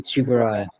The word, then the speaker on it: Tsuburaya: Tsuburaya. Iji Tsuburaya. Because I'm horrendous at pronunciation.